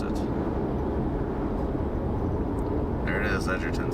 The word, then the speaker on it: Edgerton: I was pronouncing it Edgarton earlier.